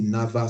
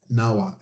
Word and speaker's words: NAWA: gone there through the NAVA scholarship, what we call NAWA, NAVA, Now, NAWA, yeah, but it's how, NAVA, how do you spell it? NAWA, NAWA WA.